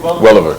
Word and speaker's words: Welliver: Welliver.